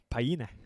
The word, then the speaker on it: Paine: Paine.